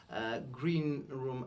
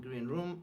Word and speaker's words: green room: What shocked me when I found out that the stress changes usually the meaning of the phrase, like green room and green room are different things, right?